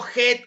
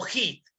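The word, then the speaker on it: Heath: El río Het o Hit, H-E-A-T-H, el río Het o Hit, como deseas pronunciarlo tú, es el río más oriental, más al este del Perú, en Madre de Dios.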